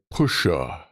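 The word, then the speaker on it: puxe: which is pronounced like pusha.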